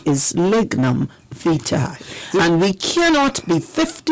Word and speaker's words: lignum vitae: such modern technology today, there's no English equivalent of the V. So and for me, that is exactly why we struggle to pronounce V. We have a very, very difficult time pronouncing that V. So we pronounce it well, I guess As a W.